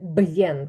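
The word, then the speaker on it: bien: цілієць аргентинець хто завгодно говорить б'єн він вимовляє це б не як би ми сказали бєн коли губи тільки дві гу губи працюють Так б'єн А вони вимовляють щось середнє б'єн Я вам раджу коли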